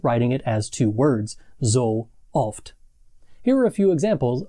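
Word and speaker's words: sooft: Pro tip, it isn't zooft or zoft or soft or any of those other pronunciation errors that you are trying. The correct pronunciation is two completely separate different sounding O's. The first one is a long O in so. The second one is a short O in oft.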